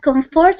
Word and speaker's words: comfort: okay and comfort is Comfort or Comfort what's the stressing uh Comfort Comfort Comfort Comfort comfort so you stress the first okay then okay okay